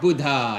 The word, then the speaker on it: Buddha: and today Buddha Bud actually his name is Buddha Buddha Bud Not Buddha normally everybody says Buddha but the real Sanskrit pronunciation is Buddha Buddha okay so Lord